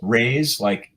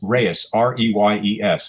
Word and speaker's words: Reyes: And Reyes, by the way, it's Americanized or anglicized. It's Reyes, like R-A-Y-S, but actually in Spanish it's Reyes, R-E-Y-E-S.